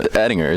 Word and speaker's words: Ettinger: How we say the G? Say there's no Ettinger. There's no G.